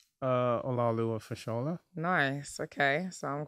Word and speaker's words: Olaoluwa: Olaoluwa Fashola.